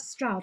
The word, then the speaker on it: Stroud: I never know how to pronounce that. Stroud, isn't it? Stroud, yeah.